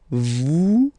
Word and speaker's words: vous: Vous êtes. Same thing here. Notice that final S is not pronounced.